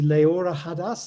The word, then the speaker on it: Leora Hadas: I hope I'm pronouncing your name correctly. Leora Hadas, is that right? Right. And we also have Mimi Yang. So Leora, do you want to go first and then we'll move to Mimi? Yes. First of all, wow, that was a really good pronunciation of my name.